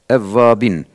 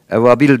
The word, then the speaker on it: Evvabin: Evvabin, evabil değil. Bazıları halkta ebabil diyorlar. Evet. O kuştur, o ayrı.